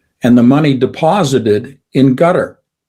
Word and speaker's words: Qatar: There was some $500 worth of oil sold by the United States and the money deposited in gutter. Some people pronounce it Qatar.